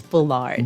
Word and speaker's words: Bullard: is that this branishical bullet is doing what is pronounce bullet but it's Bullard Bullard okay I just want